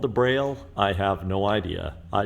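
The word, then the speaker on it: Brale: Why is it called a braille? I have no idea. I just know it's spelled B-R-A-L-E.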